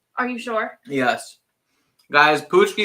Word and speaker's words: paczki: you sure yes guys pushki is Pucci right not like patch key or epoxy is pushki yeah I think this